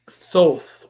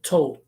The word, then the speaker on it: Thoth: Thoth or Thoth. I've heard people call him Toth. I've heard people pronouncing it as Thoth, Toth, Toot. I've heard something like that. Someone referred to him as Toot.